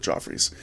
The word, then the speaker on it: Geoffrey's: It should be pronounced Jeffrey, but he pronounced it Joffre, so we call it Joffrey's.